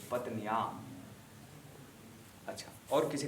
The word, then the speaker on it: पत्न्या: तो पत्न्या, श्रीश्चते लक्ष्मीश्च पत्न्या, पत्न्या, पत्कन्या नहीं होगा, पत्न्या।